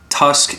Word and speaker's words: Tusq: how i know them tusk is the way they spell it t-u-s-q is kind of i guess like a play on an elephant tusk even on this package